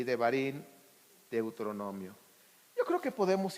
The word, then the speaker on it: Devarim: Ahorita estamos ya en Shemot, Vaikra, Levítico, Bat Midbar, Números y Devarim, Deuteronomio.